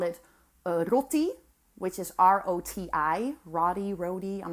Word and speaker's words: roti: They make, like, they call it roti, which is R-O-T-I, roti, I'm not sure.